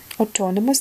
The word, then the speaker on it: autonomous: Autonomous, да, autonomous на о ударение.